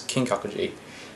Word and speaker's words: Kinkakuji: and i don't yeah so the last one was g spelt with a g this one spelled like k this is kinkakuji now kinkakuji is just